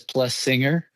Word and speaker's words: Plessinger: s's so she says plus singer oh okay yeah I've always just looked at it that way if you split the two s's it's plus and then singer yeah so um yeah